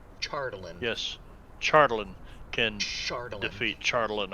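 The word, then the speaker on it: Chardalyn: chartland certainly defeats charlotte chardeline it's pronounced chardolin yes charlton can defeat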